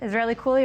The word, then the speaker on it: Israellycool: Israellycool, am I pronouncing that right?